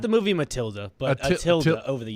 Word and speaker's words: tilde: Yes, a tilde. Yeah, it does sound right. Who's that? That's the thing over the. Over the Oh, end. okay. A tilde? Not the movie Matilda, but a tilde over the It's a end.